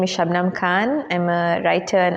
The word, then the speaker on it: Shubnum: Festival and together withn shabam shabam is the right pronunciation and we having conversation